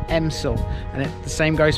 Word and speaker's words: Elmsall: this village it has an l in it it's spelt elmsul but it's pronounced emsil and it the same goes for southampton when